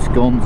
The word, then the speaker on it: Scone: pronunciation of the town even though we eat scones in Australia it's games but the town's pronounced scone well for the first time but